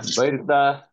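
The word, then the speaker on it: баярлалаа: So how do you pronounce thank you in Mongolian? Baerta.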